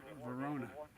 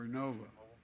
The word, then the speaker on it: Vernova: going to go into turbines made by GE Verona excuse me I mispronounced it vernova in Florida New York pattern energy will use